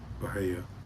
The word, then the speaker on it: Bahia: Bahia.